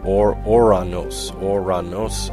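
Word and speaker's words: Ouranos: But anyway, the original pronunciation of the god's name was, it was something more like Oranos, and of course it's been kind of anglicized to Uranus.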